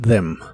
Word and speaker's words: them: los o interrumpir las la th de them se pronuncia Como si fuese una d vibrante interrupt them interrupt them